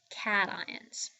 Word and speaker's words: cation: for positively charged ions we call those particular ions cat ions so we're going to spell that c a t i o n okay so a positively charged ion is called a cation all right so cat